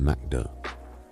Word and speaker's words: McDo: They call it McDo, pronounced McDo, with the easy familiarity of something that's simply been absorbed.